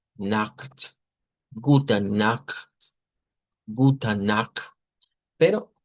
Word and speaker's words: Nacht: Y aquí vamos a tener cuidado porque la CH esta se va a pronunciar con esto que no es una X. Es algo como ugh, Nacht, Gute Nacht, Gute Nacht.